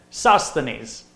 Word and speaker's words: Sosthenes: and I'm just like how do you pronounce this word and Google popped up and it said you know Sosthenes you know my computer